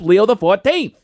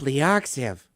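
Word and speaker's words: Leo XIV: Pope Leo uses the X, the I, and the V as Roman numerals. So, he's Pope Leo the 14th. I always thought he was Pope Leoxiv.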